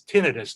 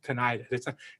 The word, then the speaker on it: tinnitus: The real word is tinnitus, and it's a Latin word, which means ringing in the ears. But it's been misspelled and mispronounced so much for so long that tinnitus is commonly used also, but it's not really but it's tinnitus, not tinnitus. Tinnitus means it's an inflammation, and it's not an inflammation.